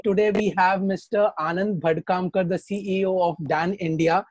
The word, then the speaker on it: Bhadkamkar: It actually at times comes in as Bhadkar or Bhamdamkar. So there have been very funny pronunciations, but yeah, the name it gets confused with Bhandarkar, Bhadkamkar. It says Bhadkamkar actually.